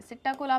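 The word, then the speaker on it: psittacula: कबूतर सिट कुला मतलब यहां पर पी साइलेंट है सि कोला में पी साइलेंट है सिटा कोला मतलब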